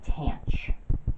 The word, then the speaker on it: tanh: Next, we're going to define hyperbolic tangent, or hyperbolic tangent, which we pronounce Tange.